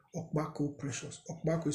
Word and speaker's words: Okpako: Just type my name, Okpako Precious. Okpako is spelled O-K-P-A-K-O.